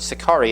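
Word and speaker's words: Sicarii: Sakari is how you pronounce it in Latin.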